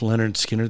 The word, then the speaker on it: Lynyrd Skynyrd: can find it on I think it's on pronounced Leonard Skinner the the first album I think they've got